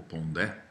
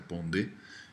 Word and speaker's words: Pondé: luí Felipe Pondé né ou Pondé pronúncia francesa O correto é Pondé e ele é um